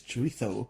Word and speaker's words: chorizo: It's like chorizo, people say, don't they? But it's chorizo.